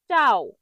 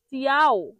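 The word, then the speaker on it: ciao: যখন এটাকে মানুষ ভুল উচ্চারণ করে এই চাওকে তখন বলে চিয়াও। চিয়াও এটা ভুল উচ্চারণ। চিয়াও ভুল উচ্চারণ। সঠিক উচ্চারণ হল চাও।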